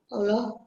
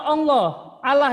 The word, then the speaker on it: Allah: Bagaimanakah cara mengelola kekayaan alam ciptaan Allah? Sebentar, bacanya bukan Allah ya. Oh ya, Allah. Nanti Allah itu mengarah ke bahasa Arab. Kita pakai bahasa Indonesia bukan Arab ya.